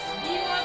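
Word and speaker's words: do: ডিও থাকলে কিন্তু কি আমরা বলছিলাম ডিও ডো এরকম উচ্চারণ করছিলাম তো যেমন আর ও রো পি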